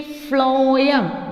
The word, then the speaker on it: phloem: See, phloem, the pronunciation is f, right?